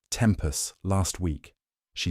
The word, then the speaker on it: tempus: "You mispronounced tempus last week," she said. "I know. The second syllable is short.